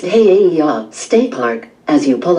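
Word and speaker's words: He'eia: Hiia, pronounced Heiaia, State Park.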